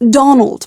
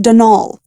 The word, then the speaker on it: Donal: that was the caretaker denal Delaney not Donald mind you there's no D at the end so it's pronounced denal that's the way you're